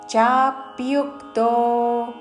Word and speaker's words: చాప్యుక్తో: పరమాత్మే తాకిమావతుతో పరమాత్మేతి చాప్యుక్తో చా మీద ప్యు లోని య మీద ఆఘాత చాప్యుక్తో పరమాత్మేతి చాప్యుక్తో దేహే